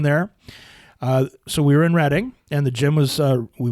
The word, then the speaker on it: Reading: don't we go to actually it says reading but the pronunciation is Reading Pennsylvania yeah cuz you know